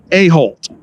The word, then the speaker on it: Aholt: golf course superintendent aholt hey how you doing all right and i pronounce that with a t right always a t on the end yeah i'm sure as